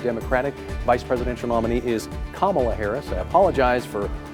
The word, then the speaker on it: Kamala: name of the democratic vice presidential nominee is kamala harris i apologize for mispronouncing that earlier have a great night